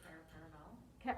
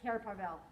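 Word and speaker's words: Cair Paravel: I say Carapavel. Okay, that's Carapavel. That's what I thought.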